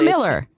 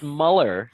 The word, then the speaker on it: Muller: Pete, is it Muller or Miller? It's Muller. Muller. Muller. It's funny because my dad was Austrian, and in Austrian it's Muller with the two dots